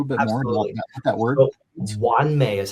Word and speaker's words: Wan Mei: So Wan Mei is how you say that word.